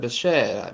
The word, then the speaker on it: Bichette: See, Bichette's actually playing pretty well this season so far. I said Bichette, if I pronounce his name right.